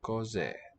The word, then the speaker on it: cos'è: Lose that final a. Cos'è. 2 syllables.